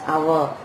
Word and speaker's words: hour: Okay, an hour, H is not a vowel, but we are pronouncing it as hour, and so we are using an before that.